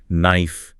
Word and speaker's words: knife: That initial K is always silent when it's followed by an N.